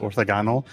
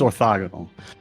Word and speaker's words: orthogonal: I always pronounce it orthogonal because I learned it from reading it, but it is orthogonal.